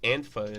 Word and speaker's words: Antifa: Hey, explain what Antifa is. Right, that's how you pronounce it. Antifa. Antifa. Or Antifa, if you're clinically retarded. Antifa sounds better. Antifa, yeah.